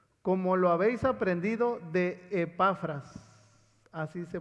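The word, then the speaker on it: Epafras: lo que dice como lo habéis aprendido de zafras así se pronuncia nuestro con ciervo amado qué es un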